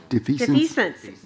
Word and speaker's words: defeasance: Possible action regarding defeasance. Did I say it right? Defeasance. Long E. Defeasance and calling for redemption of certain currently outstanding obligations.